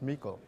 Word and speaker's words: Meikle: I'm good, but my name's pronounced Meikle. Meikle, excuse me. That's all right. So if you want to Why start is it that spelled over, the way it is then? because it's Scottish and not German.